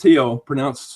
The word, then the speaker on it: Thiel: It's pronounced Thiel, spelled Thiel.